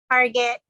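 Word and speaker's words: Hargett: uh Visa what was your last name again Target say that again Target spell it for me h-a-r-g-e-t-t got it thank you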